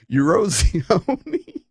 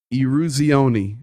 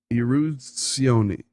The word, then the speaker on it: Eruzione: I can spell it in my head. Oh my goodness. Mike. Eurosione. Oh, somebody help me, Mike. Oh, Mike, I'm so sorry. Eruzione. There it is. Eruzione. Mike Eruzione.